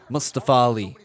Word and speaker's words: Mustafa Ali: He wants to make sure you know that's his name. That's how you say his name. Mustafa Ali.